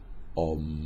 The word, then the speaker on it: Om: por excelencia lo constituye la sílaba aum es decir aquella que se pronuncia om hay que hacer resonar